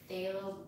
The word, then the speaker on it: phthalo: That phthalo blue, I believe it's called, the one that I have such a hard time pronouncing. And then somebody was like, oh, it's halo with a TH.